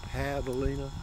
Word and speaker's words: javelina: a hog it's spelled j-a-v-e-l-i-n-a like javelina but it's pronounced pavlina why because h's in spanish are pronoun or jays in spanish are pronounced eight with an h sound so here we go